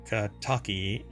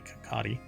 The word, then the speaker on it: Kakati: over at game rant belal Ahmad Kaki or wait wait kakati sorry I pronounced the last name incorrectly kakati um and Jason wer